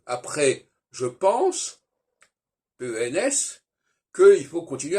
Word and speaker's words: pense: On dit je pense, alors qu'on devrait dire je pens, et on ne prononce pas le S final.